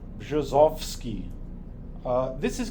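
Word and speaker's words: Brzozowski: is something like bosski the RZ sounds like uh J and the B sounds like B so it's bski uh this is called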